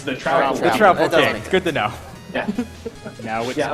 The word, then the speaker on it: Troupple King: Is his name the Troupple King, or how do you pronounce that?